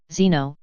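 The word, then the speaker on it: xeno: The same sounding word, Zeno, spelt with an X, can mean stranger, foreigner, or enemy.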